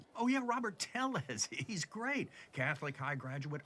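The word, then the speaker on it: Tellez: Robert Telles.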